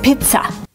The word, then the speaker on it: pizza: word is pizza Pizza the first vowel is a long e like green beans P Pizza we don't use the short sound I like milk it's not pizza it's P Pizza the second syllable is not stressed it's pronounced with a relaxed H Pizza Pizza use a relax uh like cup and up it's not pizza it's